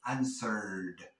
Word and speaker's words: answered: Porque la R, aunque no lo creas, es una consonante débil y entonces nos vamos a comer esa I. No la vamos a pronunciar y vamos a pronunciar solamente la de answered, answered.